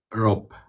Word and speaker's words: rope: There's a difference between the word robe and rope. Rope. Yeah. Yeah. See the difference? You hear the difference? Yes. So, one is what we call voiced. We make sure that it's clear. We can say it. Robe. And then we have rope. Rope. This subtle difference in the strength. We call that voiced and unvoiced or voiceless.